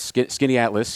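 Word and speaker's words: Skaneateles: Skinny Atlas. Is that how did I pronounce it right? Well, yeah, that's Skinny Atlas.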